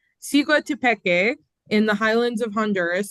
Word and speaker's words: Siguatepeque: It is pronounced Siguatepeque in the highlands of Honduras.